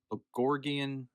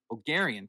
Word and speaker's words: Bulgarian: with a Bulgor, yeah, Bulgorian. That's not how you pronounce it. Bulgorian. Bulgarian? Bulgarian. Thank you, jeez Louise.